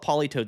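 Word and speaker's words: Politoed: Uh, let's pull up Poly Toad. So, you guys know what Polytoad does. Polytoad is spelled weird. It's like T O E D, I think.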